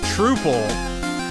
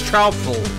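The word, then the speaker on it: Troupple: he gets quite upset if you say it like trole he doesn't need troops it's more like counil or doubtful so it's trul trul trul I've been saying it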